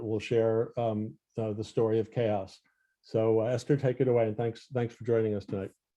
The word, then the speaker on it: Kaos: I thought it was Kaos like Taos, and no, it is Chaos.